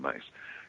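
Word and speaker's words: Myss: who know Carolyn Mace, some people call it Mice, M-Y-S-S, but it's actually pronounced as Carolyn Mace.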